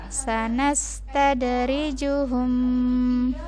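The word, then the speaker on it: سَنَسْتَدْرِجُهُم: Kemudian yang lanjutannya yang tunggu sebentar, kalau yang ini ada hukum yang bertasydid maka ini ditahan dulu ya. Begini bacanya, sanastadrijuhum, jadi ditahan dulu ya di sini.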